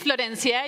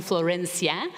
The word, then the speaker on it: Florencia: My name is Florencia. You can call me Flo. You can call me Flor. If you cannot roll your R's, you can call me Florencia.